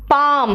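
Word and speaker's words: palm: please आप क्या करोगे बोलो क्या इट्स बाम पाम पाम मतलब हथेली है ना टॉक एल साइलेंट है वक दान को कहते हैं आम्स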